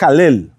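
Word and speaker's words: הלל: Inclusive, la palabra hebrea para alabar es Halel. Se escribe Hei, Lamet, Lamet. Halel.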